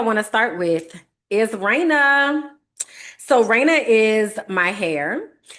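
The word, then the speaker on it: Reina: So Raina is my hair and Raina is spelled R E I N A. Shout out to Raina. And Raina's emoji is the crown because Raina is the Spanish word for queen.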